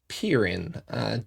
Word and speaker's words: Pirin: We spelled it with all E's. So E-E-E, E-E-E, E-E. Yeah, it's pronounced Pirin. I see. I see you have a little bit of humor. I wasn't expecting that from you, Roger. I'm gonna write that down. So two E's then. Okay. At least two. And the E at the end is silent.